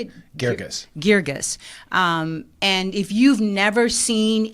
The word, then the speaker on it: Guirgis: Guirgis. And if you've never seen any of his plays, just Google him, Stephen Adly, Guirgus, and you will know why you should come out and see this play.